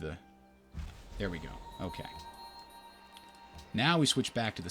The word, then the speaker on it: nau: or sheep it's a now really Google says the NAU ship is pronounced now ok so now I'm